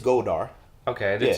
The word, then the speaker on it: Goldar: It's Goldar.